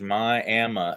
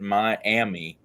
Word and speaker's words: Miami: Indian tribe's name and it is my AMA and if you come to my AMA and pronounce it Miami they will run you out of town they will run you